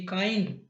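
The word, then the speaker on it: kind: Second example है के आई एन डी काइंड।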